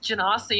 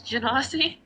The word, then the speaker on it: Genasi: sitting there listening to them pronounced janasi and i'm just like i should have played a alpha ginassie jin ass that's how they pronounced it gymnasty and i was like no it's genoci please please guy i